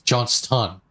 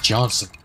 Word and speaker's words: Johnston: name what on earth my last name is johnston with a t johnston however i never say johnston or it's john stun i never say john stun it's johnson pronoun like emphasizing and pronouncing e's are just way too much effort uh i was just